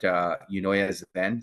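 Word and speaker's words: Eunoia Zen: Not as much, but Unoya Zen. So that's spelled EUNOIAZEN.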